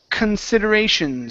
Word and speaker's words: considerations: Uh, let's go to the word considerations. So, here at the very beginning, instead of saying con, we're going to say con. Considerations. The stress is on ray.